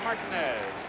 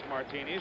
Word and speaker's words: Martinez: Reggie Jackson's middle name spelled the same way, pronounced Martinez. Reggie's been calling him Buck Martinez for I don't know how many years, but now we're told that the absolute correctness of the pronunciation is Martinez.